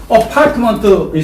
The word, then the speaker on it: apartment: 이렇게 썼더라도 아파트라는 말은 없습니다. 이렇게 줄이더라도 어파트먼트라고 읽어야만 됩니다. 자, 해보세요. 어파트먼트. 아파트라는 말은 없습니다. 해봐요. 어파트먼트. 줄일 수는 있습니다. 그러나 읽을 때는 아파트라고 읽어요? 아니면 어파트먼트라고 읽어요? 어파트먼트라고 읽어야 됩니다.